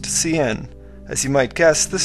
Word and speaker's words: cin: takes the statement C which is pronounced CN as you might guess